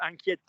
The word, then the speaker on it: inquiète: Now, if you are worried, you can say je suis inquiet or je suis inquiète, as we have done 100 times.